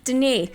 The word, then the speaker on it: Denis: Denis. Denis Villeneuve. Not Dennis. It's Denis. No, it's Denis.